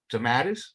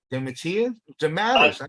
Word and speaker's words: DeMatteis: DeMatteis. How do you say it? DeMatteis. I use the Italian pronunciation.